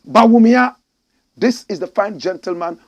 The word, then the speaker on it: Bawumia: sister this is Bia some people have turned his name around and they call him Baya correct pronunciation Bia this is the fine